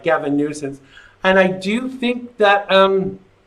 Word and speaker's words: Gavin Newsom: And I did pronounce it right, Gavin Newsom.